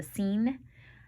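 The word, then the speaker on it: Seine: a few days ago now the sign or sometimes pronounced the scene that's a river in Paris Hugo wanted to leave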